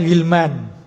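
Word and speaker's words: غلمان: Jangan terkecoh dengan alif nunnya itu. Ini bacanya ghilman.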